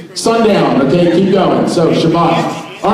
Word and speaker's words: Shabbat: a synagogue they have shabbat and by the way if someone goes yeah it's shabbos they're like what that's the same thing long time ago they didn't pronounce teas they had essence so you'll figure that